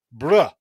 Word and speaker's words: Brough: You're right, Brough. Like tough.